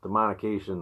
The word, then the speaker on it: Demonication: Luciferion, Demonication. Is that how you say it? Yep, Demonication, The Manifest.